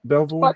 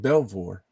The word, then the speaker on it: Belvoir: Did I pronounce that right? Belvoir? Fort Belvoir, yep.